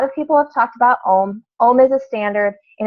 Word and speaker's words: Om: so a lot of people have talked about ohm ohm is a standards and it's actually pronounced a um because it is if you look up what